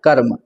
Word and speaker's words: कर्म: जैसे ये लिखा है कर्म अब इसको हम पढ़ते हैं तो क फिर ऊपर आधा ऊपर है र तो कर्म इसका उच्चारण मा से पहले होगा तो इस तरीके से